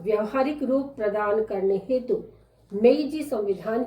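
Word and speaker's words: Meiji: Pronounce होने में ब्याईजी लगता है, पर यह है मेइजी। मई जून जुलाई वो वाला मेइजी।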